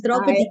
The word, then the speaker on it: Draupadi: I want to congratulate the Drupadi Mumu. Yes, I hope I pronounced it well. Yes, ma'am. Draupadi, yes, you pronounce it so well.